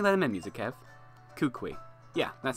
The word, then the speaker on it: Kukui: I think that's how it's pronounced. Why don't you let him in, Music Kev? Kukui.